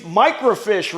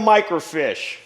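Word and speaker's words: microfiche: And I've got plenty of microfish. This is all microfish. And this box is full of microfish. Now, I know what you're thinking. What's a microfish? It's not a little tiny fish.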